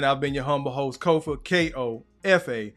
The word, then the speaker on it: Kofa: Once again, I've been your humble host, Kofa, K-O-F-A, not coffee, not kufu, not Kofi, or any variation thereof. Kofa rhymes with sofa, easy to say, easy to spell.